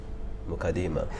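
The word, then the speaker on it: Muqaddimah: One of these authorities saying Muqaddima the way it should be pronounced. Muqaddima.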